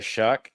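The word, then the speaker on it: Shough: Uh, the New Orleans Saints did get Tyler Shuck. That's spelled with a gh for those of you who hate the American English language.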